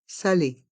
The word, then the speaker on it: salé: Une tarte salée. Une tarte salée. Le deuxième E de salé est muet. Salé, salé.